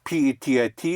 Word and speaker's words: petit: So again, P-E-T-I-T is pronounced Petit.